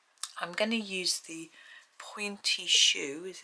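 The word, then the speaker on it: pointe: it there we go I don't think you pronounce the E though point you say Point don't you it's like the ballet shoes isn't it so I'm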